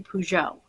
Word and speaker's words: Peugeot: these last month as well Linda and Lori pujo p e u g o t spelled like the car so um Linda and her